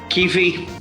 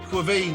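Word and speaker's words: Caoimhín: I can't pronounce his name. Austin, give me the name of our Irish goalkeeper. Kelleher. Keefe. Quaveen, isn't it?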